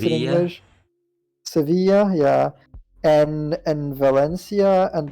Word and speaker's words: Sevilla: did severe but I don't know how that's pronounced in English Sevilla yeah and and Valencia and Barcelona on the